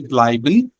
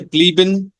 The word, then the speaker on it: bleiben: Zum Beispiel bleiben, einladen, einschlafen. If you say blieben, einladen, einschlafen, so this is wrong pronunciation.